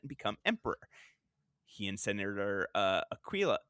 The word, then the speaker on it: Aquila: He and Senator Aquila. I always said Aquila, but I know that's just like the very, very American pronunciation.